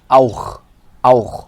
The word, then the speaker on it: auch: O and CH och, and AU and CH auch, which is actually a word in German.